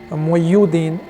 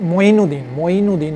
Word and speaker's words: मोइनुद्दीन: उनके जो मुरीद थे उसने सही प्रोनाउंस की कि मोइन मोइनुद्दीन मोइनुद्दीन चिश्ती वो कह रहे थे मोहियुद्दीन के पता नहीं ऐसे करके बोल रहे थे तो वो जब वो